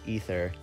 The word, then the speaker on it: Aether: by the Google that it's supposed to be pronounced ether still not a hard